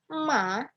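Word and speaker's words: 马: Nada ketiga bacanya ma, itu artinya kuda.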